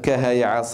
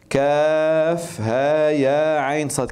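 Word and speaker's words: كهيعص: كها يا ع ص الكلمه لا تقرا هكذا كف ها يا عين صد كما قلت لكم في الدرس هنا لا ننطق الحروف لا ننطق الحروف لا نقول كها عص وانما ننطق اسماء الحروف ما اسمه الحرف الاول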